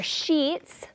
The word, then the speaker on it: sheet: So this is my sheet or sheets of paper. Really long pronunciation of the double E, all right?